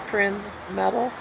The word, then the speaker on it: Prinzmetal: So Pete's getting their coffees, and I have what's called Prinzmetal's angina, and if it's spelled just like it sounds, Prinzmetal.